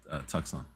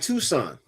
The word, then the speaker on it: Tucson: It's a Hyundai Tucson. Oh, what? Hyundai Tucson. What is that? It's an SUV. Oh, the Hyundai Tucson.